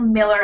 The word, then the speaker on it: Mueller: They'd been testing the pieces individually, and finally, I think it was George Mueller, or Miller as it's pronounced, I think, said you can't test every piece of this massive rocket individually.